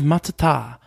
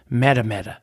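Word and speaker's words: Matatā: i got chewed out for saying instead of matata i said madame and i i know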